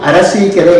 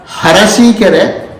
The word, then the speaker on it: अरसीकेरे: चेत् शुद्ध उच्चारणं करोति अशुद्ध उच्चारणं शृणोति अशुद्ध उच्चारणं भवति तावदेव। अस्माकं कर्णाटकप्रान्ते आ इति स्वरः अस्ति हा इति एकं व्यञ्जनमस्ति परन्तु अरसीकेरे इति एकः ग्रामः नगरमस्ति हासन इति एकं नगरमस्ति बालाः किं कुर्वन्ति हरसीकेरे आसन इति वदन्ति आ हा द्वयमपि उच्चारणं कर्तुं